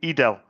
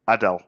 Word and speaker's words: Edel: It's cuz I pronounced it wrong. Uh, Edel, my apologies. I I said Adele, I think.